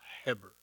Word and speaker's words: Heber: It says Eber in your Bible, but it's pronounced Heber.